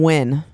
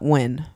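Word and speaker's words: Nguyen: one is from david i believe you pronounce this last name win n-g-u-y-e-n you pronounce that win right i think so okay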